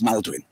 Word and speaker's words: Maldwin: The reason I became Mal Pope was that my real name is Maldwin. It's not Malcolm, it's Maldwin.